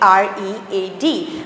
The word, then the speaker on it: read: Although the spellings are same always about the read, r e a d, but you have to pronounce it as read.